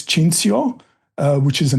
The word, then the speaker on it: Cinthio: to mind so yeah in Italian it's chinsio uh which is a